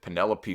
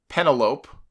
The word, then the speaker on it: Penelope: got Joey Janella and Penelope Ford or uh penelopee as uh as Booker T called her on his show I I got to